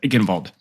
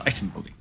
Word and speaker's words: Eichenwalde: So this is gold Reinhardt on Eichenwalde. I used to think I was hip because I said Eichenwald. But I actually asked a German guy, and he said, no, it's Eichenwalde.